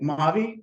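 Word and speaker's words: Mavee: So said the same way, Maavee, but spelled M-A-V-E-E.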